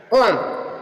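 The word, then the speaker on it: comb: पूर्व का बी प्राय साइलेंट रहता है बी साइलेंट रहता है जैसे आप देखेंगे इसके एग्जांपल है कोम कोम मींस कोम कोम मींस कंगी जो बी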